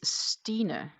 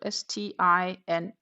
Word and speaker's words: Stine: And it is Stine. So Stine, Stine. And it rhymes on Tina, almost on Tina, not completely, but it does have 3 of the letters from Tina.